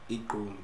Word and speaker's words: gqom: It's called Gqomu, which is spelled Igqomu. Gqomu.